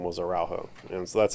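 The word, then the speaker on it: Araújo: whose last name was araujo and so that's how they spread out that's how they pronounce it in Spanish and so that's how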